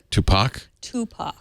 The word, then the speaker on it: Tupac: I'm sorry I pronounced 2pac wrong how'd you pronounce it Tupac I always say 50 cents and then I